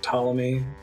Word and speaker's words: Ptolemy: size matters that's great ptolemy why is the p even there it's not doing anything english is a right mess across the board there was a reason in the past it's now gone oh they do pronounce